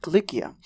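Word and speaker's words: Κιλικία: know the region best as Cilicia, or with the Greek pronunciation Kilikia, home to the famous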